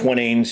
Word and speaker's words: Twinings: How do you pronounce it? Twinings? Twinings, yeah.